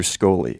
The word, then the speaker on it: Scholey: to interview Professor Andrew Scholey, and I mispronounced his name Andrew Scholey. It's an SCH name, and I made the rash assumption that it was pronounced like sh instead of sk.